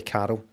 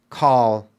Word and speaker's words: Carl: sorry car Carl Carl with my accent I say Carl I hit that R and then go out to the L whereas you say properly call call call I don't speak properly